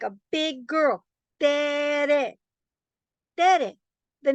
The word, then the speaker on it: Tere: Hi, I Tere. Ah, Terry. No, it's Tere. No, it's pronounced Terry. No, it's pronounced Tere. No, watch my mouth. Terry. Terry. See? No, it's Tere. It's always been Tere.